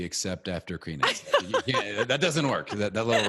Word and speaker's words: Krimitsos: So Krimitsos actually, to me, seemed a lot easier because I was like, just pronounce it out. It's fine. Like, it looks funny, but like, just pronounce it out and it's good.